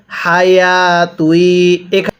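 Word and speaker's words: حياة: হায়া তুই। এখানে এই খাড়া জবরটা ইয়া এর উপরে ওয়াও এর উপরে কোনো খাড়া জবর হবে না।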